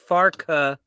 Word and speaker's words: Farke: And Pincushion, Ian just wants to remind you, Farke has 2 syllables, Tom, and I know that because I had the closed captioning on, and it kept saying Parker.